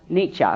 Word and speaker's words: Nietzsche: a little black cat and her name was Nietzsche well actually you wait you pronounce you know neat weenie she is supposed to be pronounced Nietzsche but when you have a cat you have